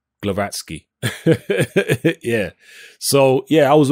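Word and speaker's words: Głowacki: I always forget how to pronounce his surname. It's the Polish surname. I'm going to say Glowacki.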